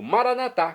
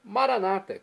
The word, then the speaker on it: maranatá: Bem, e agora eu clamo maranatá, como dizemos nós católicos, do aramaico, dialeto de Jesus ou maranata, como dizem nossos irmãos das comunidades evangélicas ou protestantes. Não importa a pronúncia, o significado é o mesmo.